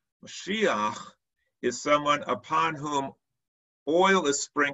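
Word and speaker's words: משיח: The word in Hebrew is pronounced Mashiach. Mashiach is someone upon whom oil is sprinkled in a process called anointment.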